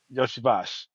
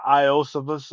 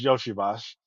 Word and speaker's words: Iosivas: yosa y yosibash yeah Yoshi bash yeah if you look at his name it look like uh iosivas or something like that but it's Yoshi bash so last season they